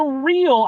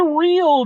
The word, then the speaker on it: Ryl: thing it is the real I'm gonna say that that's how that's pronounced r y l the real Co t